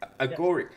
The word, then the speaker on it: Agoric: So now you're the CEO of, I hope I pronounce it correctly, Agoric. How do you pronounce Agoric. it? Yeah. Agoric.